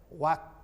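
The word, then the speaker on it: walk: हम कहते थे मास्टर साहब WL के वालक को बोलते हैं वाक, हम ही समझते थे हम ही सही हैं। बाद में हमें ज्ञान हुआ नहीं, के पहले L है तो साइलेंट करके बोलना है वाक।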